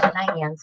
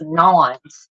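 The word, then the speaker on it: naan: I found out that it's not pronounced nans, it's pronounced nons.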